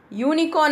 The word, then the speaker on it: unicorn: here, one more, a unicorn I am saying. I am not saying an unicorn. Why? Because here, U is silent. And if you hear the sound, what we are getting is a consonant sound.